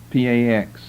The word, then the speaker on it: Pax: P-A-X, spelled like it sounds, 2 words, Pax Romana, Roman peace.